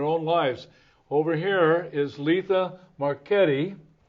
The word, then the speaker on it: Letha Marchetti: lives over here is Letha marchetti did I say it right you certainly did Ken oh good and